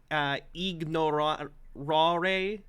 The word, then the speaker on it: ignorare: Classical pronunciation would be ignorare.